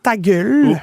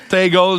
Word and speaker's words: Tagle: Il y a le cardinal Louis Tagul. Oui. Oui. Je pense pas que c'est comme ça qu'on le prononce mais ouais je comprends. Commande. Comment on le prononce ? Tagle je dirais.